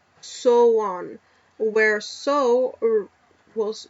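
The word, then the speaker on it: Samhain: on Sam ha pronounced soan where so was where so rhymes with cow so it has to be sa so it's saan saan it's apparently the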